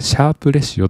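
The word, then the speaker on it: シャープレシオ: で次ですねこれシャープレシオと読むんですがこれは標準偏差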